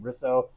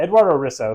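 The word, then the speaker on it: Eduardo Risso: replacement artist u in Edwardo risu I I never know how to pronounce his name risso yeah Eduardo Riso who is one of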